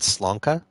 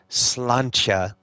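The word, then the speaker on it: sláinte: I did slanka. No, slancha. Oh, I said slonka. No, I said slancha, which is spelled like slanty. It is the Irish cheers.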